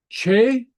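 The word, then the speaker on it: teth: Che means hot. And then I'll talk about this in just a minute. The T followed by a slender vowel takes on more of a CH sound.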